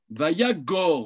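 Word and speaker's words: וַיָּגָר: Vayagor, moi je prononce Yagor, je ne sais pas exactement si c'est bien une bonne prononciation, mais je pense que oui, que lorsqu'il y a deux kamats comme ça, le deuxième se prononce O.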